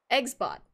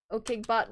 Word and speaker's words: Eggsbot: Eggs bot. OKBot, no, it does use OKG as, OKage, however you want to pronounce it, as a, trigger, but it's Eggsbot. So Eggsbot, okay, yeah, that doesn't surprise me.